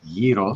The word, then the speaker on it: gyro: Wait, a gyro, which it's pronounced yro.